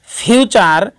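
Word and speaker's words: future: শব্দের মধ্যে টি থাকলে এবং টি এর পর ইউ থাকলে টি এর উচ্চারণ চ হয়, যেমন ফিউচার এবং সেঞ্চুরি। দুটি শব্দের মধ্যেই টি এর পরে ইউ রয়েছে বিধায় টি চ হবে।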